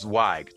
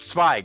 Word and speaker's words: Zweig: It's a long I sound, so it's Zweig. Zweig is how you would say it in German.